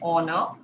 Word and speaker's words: honor: Okay, an, are, okay, so though h is consonant but it pronounced like r, an honor, an heir, a house.